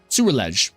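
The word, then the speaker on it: Ceruledge: Uh, it's pronounced sewerge. Surledge. Soulege. Surledge. There we go.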